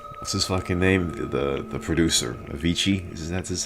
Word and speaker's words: Avicii: this named the the producer Avicii that's how you say his name I made